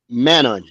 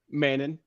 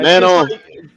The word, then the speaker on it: Manon: how do you pronounce your last name? Manon. We're just taking our time, Edward. Yeah, Manon.